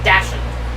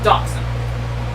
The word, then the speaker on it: dachshund: me to this day it's german yeah so it's spelled like an english person would look at that word and call it to say dashan but it's dawson yeah uh i remember